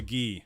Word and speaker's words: gi: you said this before say the last part of Miyagi and that's how you say it oh the ghee okay where's my karate